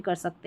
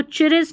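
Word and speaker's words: Chris: यहां पर देखें सी एच आर आई एस इसको पढ़ेंगे क्रिस। इसको चिरिस नहीं पढ़ना है। ठीक है? यहां पर सी एच को क साउंड आ रहा है और पूरा सी एच आर है तो क्र पढ़ेंगे।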